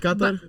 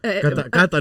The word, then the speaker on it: Qatar: is pronounced Qatar. Qatar. Qatar. No, that's the Qatar, right pronunciation.